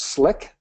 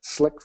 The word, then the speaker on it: CLiq: here it is um it's pronounced slick slick version two is what